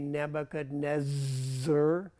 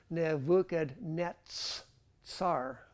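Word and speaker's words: Nebuchadnezzar: with that in English we typically make it a z that's why we say nebuchad Nez and it's so wrong it's really NAD Nets SAR okay okay do you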